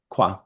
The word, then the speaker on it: quoi: Quoi. Qua. Quoi. I did not know that. Yeah. Qua. And Quoi.